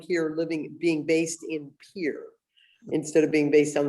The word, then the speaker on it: Pierre: So Pierre is where you will be going when you move? Pier. Oh, Pierre. I know exactly how it's spelled, but we don't say it that way. Okay, Pier, yes.